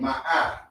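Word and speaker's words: מאה: We just say we just say 100 by saying ma'ah.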